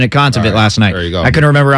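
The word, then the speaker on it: Kontaveit: right um she's from Estonia Estonia it was contaview yeah that's what it was I remember them pronouncing it consummate last night I couldn't remember off the top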